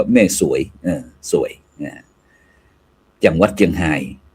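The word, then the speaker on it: แม่สรวย: อำเภอ แม่ สวย นะ หลาย ท่าน หลาย คน อาจ จะ บอก ว่า แม่ สลวย แต่ เพิ่น กำหนด อ่าน ว่า แม่ สวย เออ สวย นะ จังหวัด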